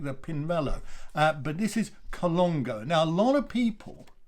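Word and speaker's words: Colnago: a collection of these bikes and it is colongo so if you uh very very well-known high-end quite expensive quite posh uh sort of brand a bit a bit like the pinballo but this is colongo now a lot of people a lot of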